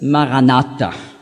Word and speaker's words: Maranatha: Also, Marana Atta. Das wird gebunden in der Aussprache, so wie das im Französischen, muss man ja auch oft so die schöne Liaison, die Bindung machen. Und dann gibt es Maranatha.